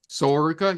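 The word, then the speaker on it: Sol Ruca: Am I pronouncing that right? Soruka?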